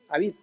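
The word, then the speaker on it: Habif: un hombre llamado daniel a beat beat la javi javi en la forma correcta de pronunciar a beat y este hombre cuenta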